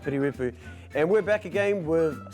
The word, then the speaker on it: Piri Weepu: Not Piri, not Pidi, but Piri Weepu.